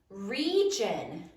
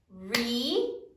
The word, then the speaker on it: region: Region. 2 syllables. Sound it out. R, E. Here comes a surprise. J, a, n. Region.